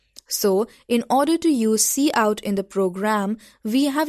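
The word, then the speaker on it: cout: C plus plus language the C out pronounced as C out is the standard output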